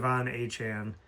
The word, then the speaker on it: Achane: We got Travis Etienne as he said his name is pronounced like like the Devon Achane. So that Etienne and Achane are both Achane.